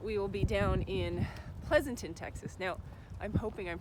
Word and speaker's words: Pleasanton: that right cuz Pleasanton seems like like there's not too many ways you could pronounce it right so I think Pleasanton is okay Pleasanton so we're headed later